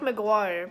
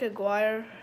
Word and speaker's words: Aguirre: we got mark aguirre not mark maguire but mark aguirre from the pistons i